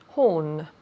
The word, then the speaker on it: horn: Horn. Good. Repeat again. Horn. Excellent. Great. Beautiful pronunciation from Marina. Horn. Horn. Again, the H, ha. Horn. It's like my name.